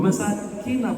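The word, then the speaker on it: مساكن: Wa masakina thayyibah. Masakina, kalau bacanya pendek, masakina itu, ini Dr.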